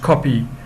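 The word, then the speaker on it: Kopje: the area known as copay pronounced copy near where the commercial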